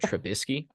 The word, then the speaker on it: Trubisky: So he said Trubisky.